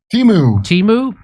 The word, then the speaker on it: Temu: Temu.